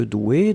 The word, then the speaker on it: doué: être au féminin ici donc on le prononce comme le masculin c'est à dire le masculin c'est des eaux usées un accent aigu là on rajoute juste le 1 mais la prononciation reste la même doué regard d'un pardon ne